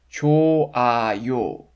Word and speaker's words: 좋아요: You don't pronounce the final 흐 consonant because it's silent. The stem has the yang vowel 오. Therefore, you need to add 아요, right? 좋아요, 좋아요.